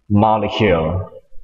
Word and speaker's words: molecule: ไป เลย เ พูด ว่า อย่าง งี้ ครับ molecule molecule แต่ก ต่าง มย ครับ กับ คน ไทย